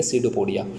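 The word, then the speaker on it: pseudopodia: सीडोपोडिया, उसमें से जो पी जो अल्फ़ाबेट है वो साइलेंट है, उसे हम रीड करेंगे सीडोपोडिया। तो अमीबा जब रिप्रोड्यूस करने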